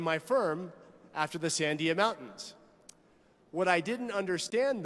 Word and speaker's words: Sandia: I'm very proud of my New Mexico heritage, so it was only natural that I would name my firm after the Sandia Mountains.